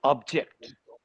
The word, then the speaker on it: object: a verb then the stress is on the second syllable for example we have a verb like object we i think i